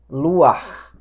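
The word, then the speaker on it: לוח: temos aqui a pronúncia luar luar nesse caso nós verificamos em aulas anteriores que nesse caso em particular o Patatá é pronunciado antes da letra final da letra Hit então nós temos lámed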